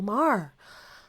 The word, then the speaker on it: Maher: this one is to Bill Maher rhymes with jar uh this is new